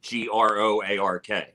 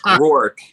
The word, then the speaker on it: Groark: Like I'll say, and then Groark. Like I'll just spell it. I won't even say it. You know, a lot of people turn it into a two syllable name. It's Groark.